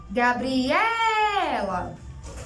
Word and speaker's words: Gabriela: Gabriela. Então, qual é a sílaba tônica? É ela.